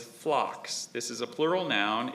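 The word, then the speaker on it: phlox: So, this word actually has a homonym. The word is flocks.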